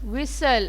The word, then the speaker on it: whistle: Rustle, whistle. Again T is silent.